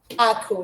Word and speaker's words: aku: So when you hear me you hear she says Ako. Say that Ako is a. How do you say it? Ako? Ako, yes. Yes.